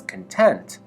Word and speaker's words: content: however when pronounced as content with stress on the second syllable its meaning dramatically changes